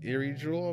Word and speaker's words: IRIJULE: it is right there it's eerie drool believe is how you pronounce it there you have